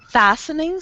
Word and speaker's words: fastening: fastening seat belts uh that t is silent what F fing fastening yes because it's too difficult to say with a t so we we remove the T fastening seat bels fastening